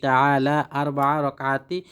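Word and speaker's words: تعالى: তা'আলা আল্লাহু আকবার দর্শক এটির উচ্চারণ হলো তা'আলা সুন্নাত রাসূলিল্লাহি তা'আলা আল্লাহু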